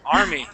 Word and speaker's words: army: Okay, so that's interesting because we have an AR sound here, or letters here, and AR here. They're pronounced absolutely differently.